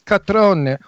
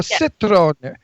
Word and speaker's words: Cetrone: She would have That's said it's catrone or citrone because I have a friend Pat Catrone. That's how they say it.